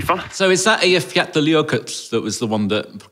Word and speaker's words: Eyjafjallajökull: The one that people called unpronounceable, but it's Eyjafjallajökull. I appreciate you showing off, but I think you nearly got that right. Eyjafjallajökull. I think you ended that with... Flatley's yogurt. Yeah, yes. You ended that with flat yogurt, which is nearly there.